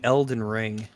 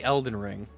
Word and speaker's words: Elden Ring: me what is the Eldon ring the Eldon ring is basically no no no no no no don't say it like don't say it like that just say Elden ring that is a